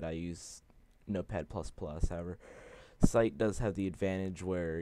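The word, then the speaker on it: SciTE: And I do know that at one point it asks you if you want to install the Site IDE, S-C-I-T-E is how it's spelled, and personally I chose not to install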